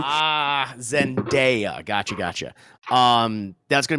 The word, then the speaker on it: Zendaya: i was not saying it right then yeah zendaya what was i saying zendaya yeah you're saying it was an eye and there's no eye in her name ah zendaya gotcha gotcha um that's gonna be more of